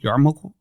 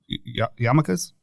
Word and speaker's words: yarmulke: Yarmulke? Yarmulkes? I don't know how to pronounce it because it's like YAR. I didn't know there was an R in it for a long time.